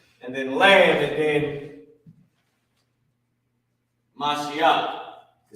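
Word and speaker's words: משיח: So the sacrifice, and then lamb, and then Mashiach, to say Christ. Masha, Yah, and Cha connected. Mashiach, right?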